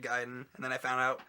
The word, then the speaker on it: Gaiden: And I I grew up saying Ninja I I I grew up saying Ninja Gayden. So, and then I found out later in life it was Ninja Gaiden.